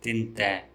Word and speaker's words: tindada: In spoken Tulu, tindada is pronounced as tinte.